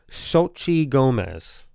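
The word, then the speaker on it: Xochitl Gomez: Chavez yes played by Sochi Gomez that's how you say it so Chi Gomez yeah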